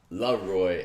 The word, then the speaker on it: Laroi: As you trying to pronounce, I saw it on Twitter. He's like, it's Laroi, and he just went through all these people that keep going different.